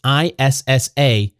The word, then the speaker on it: Issaquena: McKinley was born on April 4th, 1913, on the far western side of Mississippi in Issaquena County, and I'm sure I butchered that pronunciation. It's Issaquena. That's right alongside the Mississippi River between the state of Mississippi and Louisiana.